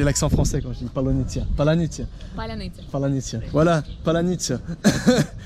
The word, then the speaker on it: Palyanytsia: un mot que les Russes n'arrivent pas à prononcer en ukrainien, et ce mot, c'est... Palyanytsia. Et le problème, c'est que moi, j'arrive pas à le prononcer non plus. C'est Palyanytsia.